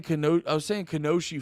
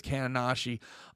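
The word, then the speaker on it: Kaonashi: I was saying Kanoshi for a while, but I think it's Kananashi.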